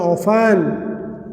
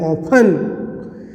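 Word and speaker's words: often: अंग्रेजी में बोलते हैं ऑफन। ओ ऑफ टी ई एन, इसमें टी साइलेंट रहता है, इसका उच्चारण नहीं कहता है। ओ ऑफ टी ई एन, ऑफन।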